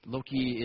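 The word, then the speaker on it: loci: uninterested in memory palaces, because low-key is a non-English word, and it doesn't really mean that much. It's spelled L-O-C-I, and I like stations,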